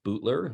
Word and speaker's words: Boutelier: for the introduction um I pronounce my last name bootler I'm from Place Bay in Cape Breton and uh it's it's such a non-french pronunciation all of my French teachers in school just loved my last name but they were always disappointed when I told them how I pronounce it so but you did